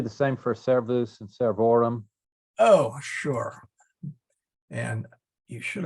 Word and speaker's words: servorum: But then if we had plural, servorum, then it shifts. It's still actually in the second. It's actually in the still in the second syllable, but now that syllable is a vo.